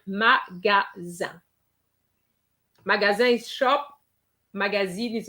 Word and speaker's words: magasin: as with the difference that we have an extra E. And that is going to make a big difference because you have magazine. Okay? But without the E, you have the sound un, magasin.